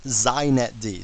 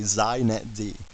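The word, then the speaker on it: xinetd: me just say a couple things first it's pronounced zet D so if you want to be hip you say zet D okay and secondly it's the epitome of why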